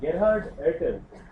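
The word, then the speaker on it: Gerhard Ertl: But in fact, the very interesting thing is that maybe I'll tell you that in the kinetics part, but Gerhard Ertel yeah, that's how it's pronounced.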